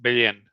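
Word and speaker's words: Belén: Yeah, it's pronounced Bellen.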